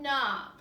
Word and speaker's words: knob: The set of words here has a silent K at the beginning. Knot, knee, and knob.